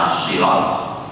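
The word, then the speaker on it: صراط: Qara al-jumhur bisa jumhur ulama qiraat kata sirat itu dibacanya dengan short, bukan dengan sin. Kalau di sini ada kata jumhur, berarti ada ulama qiraat lain yang membacanya tidak dengan shad, tapi ternyata dibaca dengan sin.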